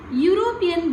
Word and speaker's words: European: European begins with the consonant sound U.